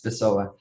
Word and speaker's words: Pessoa: Yeah, I actually pronounced it exactly. Yeah, it's Pessoa.